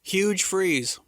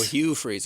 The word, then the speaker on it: Hugh Freeze: Huge Freeze. Hugh Freeze. Oh, Hugh Freeze. I was saying his name wrong the whole time.